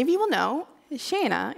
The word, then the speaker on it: Shaena: you will know know Shana is also how we say hello to each other in Sweden but there's a connection